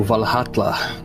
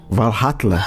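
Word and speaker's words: Valhalla: O Valhatla. Valhatla é o pronúncia correto? Valla. Esses dois Ls na linguagem nórdica se pronuncia com TL, é Valhatler, a Vler, H Datler, coisa assim, entendeu?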